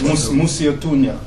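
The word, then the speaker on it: Mosi-oa-Tunya: So, okay, give me the right pronunciation, my brothers. Well, Musse? in English, it's smoke that thunder. Alright. Musiotunya.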